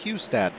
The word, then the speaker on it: Hustad: His last name is actually pronounced Hustad.